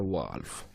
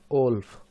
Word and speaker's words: wolf: बट हम क्या बोलते हैं इसको, ओल्फ, ओल्फ ओल्फ पढ़ते हैं। बट सही अगर एक्चुअल प्रोनाउंसिएशन देखें हम तो होगा वॉल्फ, राइट।